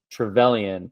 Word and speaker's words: Trevelyan: Trevelyan.